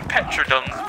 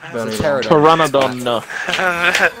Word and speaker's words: Pteranodon: Because I call them Petrodons, but I'm wrong, aren't I? Yes. Pteranodon.